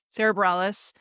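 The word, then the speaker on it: Sara Bareilles: And he's also shared the stage with notable artists, including Sarah Bareilles. Is that how I say her name? Yeah. Sarah Bareilles, Sean and Sarah Watkins, Colin Hay, Stephen Kellogg, Tyrone Wells, and Sean Colvin.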